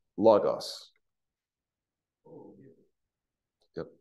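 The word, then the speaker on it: λόγος: Logos. Oh, yeah. Yep, like the computer Bible program.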